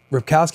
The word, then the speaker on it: Ripkowski: Ripkowski, is that how you say his name?